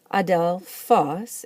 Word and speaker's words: ἀδελφός: Adelphos is the word for brother, and it likes to be accented on the last syllable.